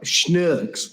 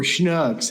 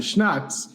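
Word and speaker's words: Schnucks: from bran from like schnooks or schnooks however people pronounce it i pronounce it schnuts but apparently i'm wrong um also i i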